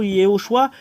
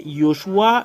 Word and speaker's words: Yoshua: Yahushua Ziadia confirme que ça n'existe pas le terme Jehoshua ou Yehoshua, mais c'est Yoshua Josué qui existe dedans. Josué, son nom c'est Josué qui est Yoshua. Et je corrige tout le monde que la vraie vérité c'est ça. Le nom de Josué c'est Yoshua le vrai.